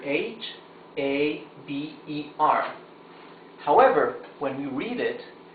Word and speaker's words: haber: We don't say chaber or haber. That's because in Spanish, letter H is totally mute. So, we don't pronounce the H.